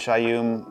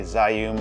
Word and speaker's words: Zhiyun: uh if you don't familiar with shayum I used to say zayum I always pronounce it incorrectly they're almost like now